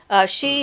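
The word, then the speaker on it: sidhe: a good explanation myself she is spelled s-i-d-h-e and it is the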